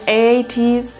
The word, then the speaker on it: ATEEZ: this a song O how do you even pronounce a8s a 8s this is 8s Wonderland by the way